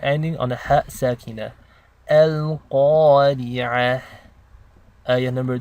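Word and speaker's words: القارعة: So let's begin with ayah number 1, Al-Qari'ah. First thing you notice is that qaf is a heavy letter. This means you want to pronounce it with tafkhim.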